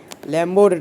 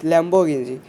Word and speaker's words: Lamborghini: এটা হলো ল্যাম্বরগিনি তো এরা আসল উচ্চারণ ল্যাম্বরগিনি lamborg না lamborghini তো আমরা সবাই ল্যাম্বর